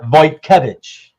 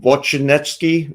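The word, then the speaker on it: Wojtkiewicz: how you say his name I've always yeah voy kevich voy kevich okay I'll have to remember that because I always said vetki or something like that I was like I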